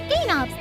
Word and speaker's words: Gaywnobs: weed is totally cool gainobs the w is silent which is short forget